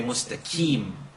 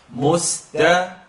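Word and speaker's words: مستقيم: Now if you needed a place to start, a lot of times in the subcontinent they say mustaqim with a kaf. Or they say mustaqim. It's too much, it's in the throat. So start out by saying key, like a key for a car or a door.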